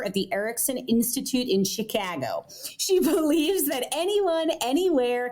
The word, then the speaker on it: Chicago: Nice nice to have you been Oh, incidentally, Chicago is the correct pronunciation of that word. There there is no other way to pronounce it. It's Chicago.